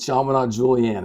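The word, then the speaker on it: Chaminade Julienne: let you do that well how do you pronounce the the name of the high school I went to high school at sham Julian in Dayton Ohio there you go I'm with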